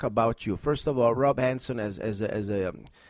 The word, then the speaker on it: Rob Hanson: with K talk so his name is uh Rob Hansen Rob did I pronounce right your name first of all you you sure did it's really hard to mispronounce my name Rob Hansen okay but sometimes you know trust me even